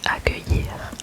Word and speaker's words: accueillir: Il y a accueil, accueil, accueil, accueil, accueil et accueillir, accueillir, accueillir. Je comprends que ce soit des mots difficiles à prononcer en français.